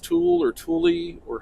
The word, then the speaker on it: Tule: don't know if it's pronounced tool or tule or how. Well, how's Anyway, it spelled? Tule. T-U-L-E. Like So- mule, but T.